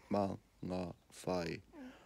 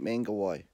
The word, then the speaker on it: Mangawhai: again ma ma fight my fight man laughs I am aa fight not manga why I don't pronounce the G in it